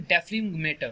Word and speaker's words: dephlegmator: यहाँ पे रेक्टिफिकेशन के साथ कई बुक्स एक टर्म यूज करती हैं, उसके स्पेलिंग है DEPHLEGMATOR। क्लियर? इसको बोलते हैं डेफ्रिगमेटर।